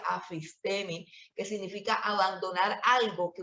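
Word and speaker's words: ἀφίστημι: Viene de un término griego que se escribe afistemi o que se pronuncia afistemi, que significa abandonar algo que una vez se abrazó, abandonar algo en lo que una vez se creyó.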